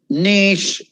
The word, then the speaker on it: niche: know english know this it's not niche or i don't know how you say it it's niche niche nice means an edge